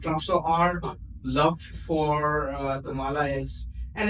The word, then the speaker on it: Kamala: set the record straight her name is Kamala I think my Indian friend would agree with me and there's nothing's wrong with that pronunciation because that is the correct pronation for example my name